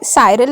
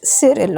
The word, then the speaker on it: Cyril: Now यहाँ पे Cyril is a wrong pronunciation, student. It's Cyril.